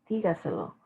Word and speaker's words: dígaselo: Okay, dígaselo. And in this case, we have a multi-syllable word, but the accent is also in the first syllable.